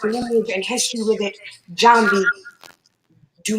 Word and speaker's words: Njambi: That's why you heard her say, do not mispronounce her name. Now that you know it's Njambi, say it right.